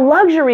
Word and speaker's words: luxury: baby II luxury luxury now luxury is a three-syllable word the first syllable lug has primary stress the other two syllables you'll notice are shorter and not quite as loud notice how soft and light the sound is in the middle luxury luxury that air goes